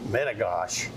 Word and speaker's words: Metigoshe: Lake Metigoshe, or as our good friends to the north, the Canadians call it, Metigoshe, which is probably a truer pronunciation of the word Métis.